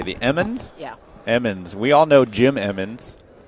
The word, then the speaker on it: Emmons: Emmons.